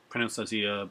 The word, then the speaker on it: Asia: Pronounced Azia, spelled A-S-I-A, like Asia.